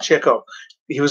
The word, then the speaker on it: Chico: brothers groucho chico harpo chico not chico it's pronounced chico he was named after the fact that he was chasing chicks which was the expression at the time groucho got his nickname